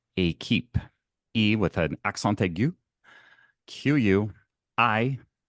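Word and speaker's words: équipe: There is a word and it's pronounced a keep e with an accentu qu i p e that is the French translation for team.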